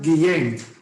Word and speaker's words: Guillén: Max, tu apellido se pronuncia Guillén.